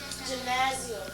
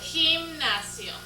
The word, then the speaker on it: gimnasio: How do we pronounce this in Español? Gymnasio. No. What is it? Gimnasio.